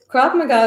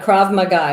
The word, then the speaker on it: Krav Maga: I think Krav Kickboxing Maga or Krav Maga is great because most women are small, and if you always will probably be faced with a larger attacker.